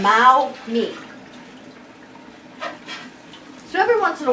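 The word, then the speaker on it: 猫咪: to say it and she kept going mommy and she got upset with me when i said when i said it like this but it's mao me so every once in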